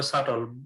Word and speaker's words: subtle: The changes that result from allowing men into female-dominated occupations and vice versa may be subtle, but সাটল না, they- সাটল উচ্চারণ হবে সাটল, beta silent. subtle, but they are far-reaching.